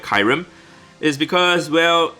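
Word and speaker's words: Kyurem: so ranked at number nine is kirim or kyram whatever you guys want to pronounce it i always call it kyram is because well right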